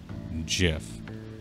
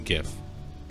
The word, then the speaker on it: GIF: or the guy who invented them says that you say it jif and i'm just here to say that it is possible we have now learned it is possible to invent something and still say it wrong it's a gif get